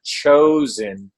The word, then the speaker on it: Chozn: we were at namescon and it was a chosen but it's spelled c-h-o-z-n dot-com chosen c-h-o-z-n got your way